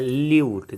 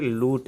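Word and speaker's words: lute: और आज का जो पहला वर्ड है वो है ल्यूट। जी हाँ, इसको दो हालांकि प्रोनाउंसिएशन पढ़ सकते हैं, ल्यूट भी पढ़ सकते हैं या फिर लूट भी पढ़ सकते हैं, जिसकी मीनिंग होती है वीणा या इकतारा।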